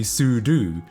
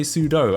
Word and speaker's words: sudo: it's sudu yeah so it stands for super user do it's like as in